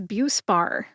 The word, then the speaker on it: Buspar: The brand name is BUE-spar. BUE-spar has 2 syllables. Bu like beautiful and spar like Spartacus. Spartacus was a 1960s gladiator film starring Kirk Douglas. Spar. Put both syllables together and you get BUE-spar. Which syllable do you emphasize? That is a good question. I have been in pharmacy for a number of years, more than 20, and I tend to emphasize BUE.